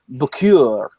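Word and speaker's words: Bouquet: their husband's name so she always say boo cure or okay you have to pronounce this way and so every time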